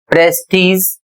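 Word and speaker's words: prestige: अगला शब्द है टी आर ई एस टी आई जी ई प्रेस्टीज और जिसकी हिंदी होती है प्रतिष्ठा।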